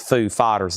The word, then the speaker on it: Foo Fighters: Yeah, you got to kind of emphasize foo fighters like Christopher Walkin. If you don't do it right, it just don't sound right.